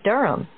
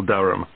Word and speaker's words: Durham: at one euronga Street Durham how do you spell Durham d-u-r-h-a-m of course I should know that but it's just one of those names that sounds quite different from the way you spell it it is confusing I've